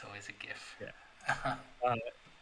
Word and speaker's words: GIF: It's always a GIF. Yeah. Acronyms take the sound of the first syllable of the first word. So actually, graphics GIF.